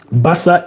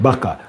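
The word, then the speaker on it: Barça: Basa is pronounced as baka is pronounced as basa not baka.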